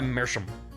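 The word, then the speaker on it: Meerschaum: It's the German for seafoam. Oh, it's pronounced like mer. I'll try mercham.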